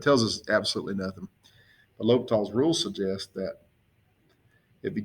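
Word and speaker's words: L'Hôpital: okay we'll do l'hopital's rule here and l'hopital's rule spelled funny l apostrophe it's about like this it's pronounced l'hopital sometimes you say s in there it's a rule that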